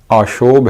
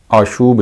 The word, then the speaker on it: آشوب: بارے میں پڑھیں گے۔ اس کا درست تلفظ آشوب ہے، آشوب نہیں ہے، یعنی اس میں واو مجہول ہے، واو معروف نہیں ہے۔ تو شہر آشوب کے